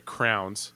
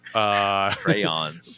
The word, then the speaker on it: crayons: Yeah, you put, and I'm from the Midwest, so do not cringe when I pronounce it this way. Crowns. Crayons. Crayons. We call it crowns where I'm from.